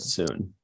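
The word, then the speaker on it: Sun: it was spelled S-U-N, but they pronounced it soon.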